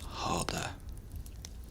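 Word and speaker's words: hade: They kind of think of it as h a d e. That's how kind of you say it just harder.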